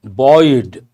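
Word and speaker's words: buoyed: important uh reduce decrease very good the party boyed how do you pronounce this boy same way boy means to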